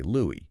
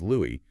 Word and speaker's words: Louis: Because if you want to be factually accurate and honor his mother's intentions, you should absolutely say Louie, right? But if you do, you risk confusing your audience culturally because everyone knows him as Louis, which also happens to be the affectionate name his own wife used.